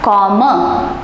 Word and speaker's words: komme: the conjugation for ish form, and that is pronounced as komme.